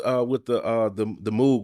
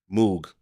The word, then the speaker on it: Moog: What was the thing you was telling about with the Moog?